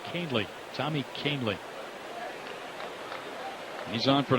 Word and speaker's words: Kahnle: Kahnle spells his last name Kahnle, pronounced Kahnle.